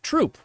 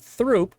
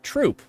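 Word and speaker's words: Throop: of Scranton that is spelled t h r o o p we pronounce it troop we don't pronounce it througho we pronounce it troop and that's just the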